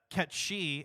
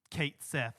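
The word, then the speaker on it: Cait Sith: in of course and uh I believe uh cat she and I'm going to pronounce it that way because I refuse to accept Kate Sith and I know that that's the canonical pronunciation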